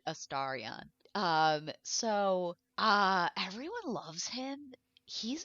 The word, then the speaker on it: Astarion: And everyone loves Astarion, Mm-hmm. however you say his name. All the characters say his name differently. He says it Astarion.